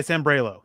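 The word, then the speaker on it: Sambrailo: tackle from texas um you got to say his name right ty sambrelo that's how you say it you're not wrong man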